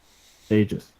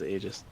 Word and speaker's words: Aegis: Aegis. Thank you. Like you literally just said it. That was. You know, that was a big controversy. It's got a tooltip now. Aegis. Pronounced as Aegis.